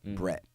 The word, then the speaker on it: Bret: Bret is the other guy, Bret, but that's how they say it, okay.